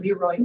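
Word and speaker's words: Le Roy: And I have Lynn Beluccio sitting on my shoulder telling me the proper pronunciation of Leroy is Leroy.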